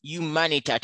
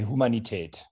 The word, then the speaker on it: Humanität: Now you're going to inform some of these people by talking about humanität. How do you pronounce that word? How is it pronounced? You say in German, you say Humanität. Humanität. Yes.